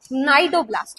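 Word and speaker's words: cnidoblast: नाइडोब्लास्ट। यहां सी silent है बेटा।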